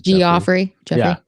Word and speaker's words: Geoffrey: He spells it like that, but it is Geoffrey. Yeah. I knew a guy that spelled his name like that. I'm like, your name's Jeff. Why is this spelled with a G?